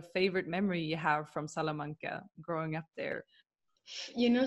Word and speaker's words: Salamanca: Is that how I pronounce it? Yeah. Yeah. Salamanca.